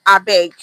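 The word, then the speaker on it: abeg: I beg is spelled A B E G. I beg.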